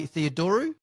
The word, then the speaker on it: Theodorou: innovation in SME, and hopefully I'm going to pronounce this correctly, Skye Theodorou.